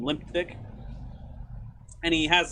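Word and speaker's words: Limpdyke: rudy limp dick just because of the way his name is spelled it's you know m-l-i-m-p-d-y-k so it's limp dyke but most people call him limp dick and he has like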